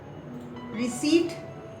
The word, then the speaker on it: receipt: Receipt, we call it. P is silent here, and then we come across with another word, reception.